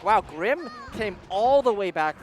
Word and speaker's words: Crim: It is Crim, not Grim. It is a C.